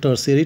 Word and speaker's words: tertiary: period dear students now above i have uh pronounced that theory that is uh do the correction in that that is called tertiary t-e-r-t-i-a-r-y and tertiary means uh like you can